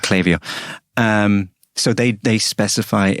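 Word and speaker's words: Klaviyo: do we use we use a tool called clavio spelled k-l-a-v-i-y-o for for ages i thought it was pronounced clavio uh i actually had to speak to the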